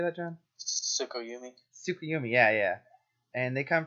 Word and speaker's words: Tsukuyomi: Tsukuyomi.